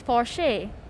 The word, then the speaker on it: Porsche: First off, "Por-shay" or some of you might call it "Porsh".